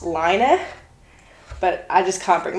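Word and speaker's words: Laine: This is by Lane, who I've now learned is actually pronounced Liner, but I just can't bring myself to say that because it just doesn't sound right to me.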